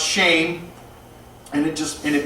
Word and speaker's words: Shem: Shem ham and jath Shem is actually pronounced shame and it just and